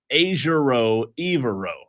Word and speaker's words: Ejiro Evero: And again, it's pronounced Ejiro Evero, as their website says.